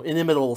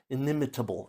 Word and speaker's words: inimitable: enjoying his, you know, inimitable style. Ineimitable. Ineimitable style. I think I had an extra syllable there the first time.